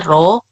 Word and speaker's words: rho: Kalau yang tanda P itu dibacanya rho, kalau yang tanda kayak Y kebalik itu dibacanya lambda.